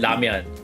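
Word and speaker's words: 라면: So in Korean, we pronounce it ramyeon.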